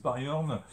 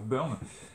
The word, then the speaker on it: Byrne: par john byrne alors john byrne c'est pas facile à prononcer certains disent berne d'autres disent baryum finalement il s'avérait que la prononciation correcte soit berne john byrne à l'époque